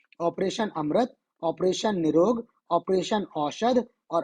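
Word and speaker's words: AMRITH: जो है एक्चुअल में जब आप साउथ में प्रोनाउंस करते हो तो इसको अमृत पढ़ते हो ए एम आर आई टीटीएच और इसका फुल फॉर्म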